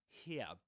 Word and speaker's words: here: And here in American English, British English, here, without pronouncing the final R.